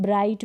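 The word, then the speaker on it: bright: सभी में ऐसा है ब्राइट में आप देख सकते हैं ब्राइट लाइट अगर हम ग का उच्चारण करना चाहेंगे ना तो भी नहीं होगा अगर आप यह साइट पढ़ना छह रहे हैं तो साइड जी हा का उच्चारण करके देखें गेट का उच्चारण भी नहीं होने वाला और वैसे भी ये क्या है यहां पर साइलेंट है तो जी हा अगर एक साथ ए जाते हैं तो वह साइलेंट रहते हैं नेक्स्ट रूल देखिए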